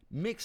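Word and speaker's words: Mx: mix Martin la violette mix se prononce mix et est un titre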